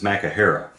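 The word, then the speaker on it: μάχαιρα: this particular instance is the Greek word, boy, I hope I get this right, Makaraya. And no, that's not a dance from the 90s. I hope I'm pronouncing Makahera. There it is, it's Makahera. It is a knife.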